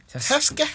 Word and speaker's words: Tezskii: Don't spell it wrong. Tezke.